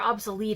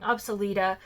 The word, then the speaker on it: obsoleta: this pantheroffice absoluta um our obsolete i'm sorry i always say it wrong obsoleta that has other subspecies that are